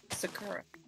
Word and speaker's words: sakura: It's sakura. Two, three, four. I just got corrected on this pronunciation.